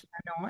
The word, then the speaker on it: Fanon: Frantz Fanon, am I pronouncing his name Yeah.